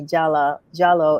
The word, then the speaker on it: Jalloh: It's pronounced Jalloh in certain countries, like in the Gambia, they spell it with the W, but we're all the Okay.